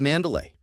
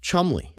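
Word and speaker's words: Cholmondeley: The Marchioness of Mandalay. What a beautiful name that I'm being told right now that I pronounce incorrectly. It is in fact pronounced Chumley.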